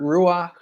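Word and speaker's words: רוּחַ: yeah so it's actually a hebrew word ruach um it's got that like like kind of guttural sound at the end um so it's really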